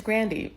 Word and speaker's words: Grande: music artist is like an intentional mispronunciation of her last name so that she gets confused with or sounds like she's Latina when she's not. She's Italian, she's white. It's Grandy, and she still plays with that, which is insane.